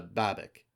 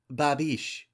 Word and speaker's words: Babek: He stops a few feet away and asks, "Are you Hannah Babek?" He pronounces her last name wrong, ending it with a hard K the way most Americans do. Babish, she corrects quietly, doing her best to hide what remains of her accent.